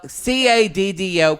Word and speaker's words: Caddo: discount by the way y'all it's spelled CAD dough c-a-c-a-d-d-o everybody thought it was cattle street it's not doesn't help when you basically slur it well c-a-d-d-o Caddo Street Barbecue that's true five for